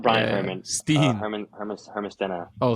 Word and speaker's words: Steen: I just asked him today how to say it. He said it to me and I forgot it. But it's like Stena or Stene or it's something like that.